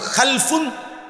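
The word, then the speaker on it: خَلْفٌ: হয় আরবিতে একটা হল খালফুন আরেকটা হল খালাফুন একই শব্দ শুধু উচ্চারণের মধ্যে একটু ভিন্নতা মাঝখানে একটা লাম আছে এ লামটার মধ্যে যদি সাকিন হয় তাইলে হল খালফুন আর যদি লামের মধ্যে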